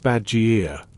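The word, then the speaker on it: badgir: The badger, pronounced badgier, meaning windcatcher, is a Persian invention so elegant, so effective, it's barely changed in over 1,000 years.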